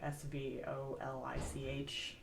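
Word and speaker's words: сволочь: Swalich? It's like SV. Well, I mean, different alphabet, but the way that I did it phonetically was like SVOLICH, essentially, Swalich. Because it's that soft V.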